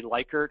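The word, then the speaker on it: Likert: agree this is actually technically a lyer or liquer scale however you want to pronounce it U but liquor liyer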